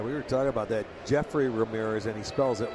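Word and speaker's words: Yefry: And Jeffrey Ramirez with a first pitch strike on the fastball. Yeah, we were talking about that. Jeffrey Ramirez, and he spells it Y-E-F-E-Y. It's we would think Jeffrey, like we pronounce our own.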